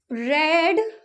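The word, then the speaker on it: read: मैंने कहानी पढ़ी आई रेड स्टोरी क्योंकि रेड स्टोरी इसलिए बोला क्योंकि रीड की तीनों फॉर्म में स्पेलिंग यही होती है बस प्रोनाउंस एशन उसका चेंज हो जाता है ठीक है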